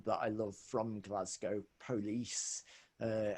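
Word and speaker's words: Polis: i love from glasgow police uh never sure exactly if i'm pronouncing that right you know the the scottish version of police anyway um yes felt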